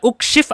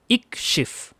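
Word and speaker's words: اِكْشِفْ: Tidak dibaca ukshif atau akshif, tapi dibaca ikshif.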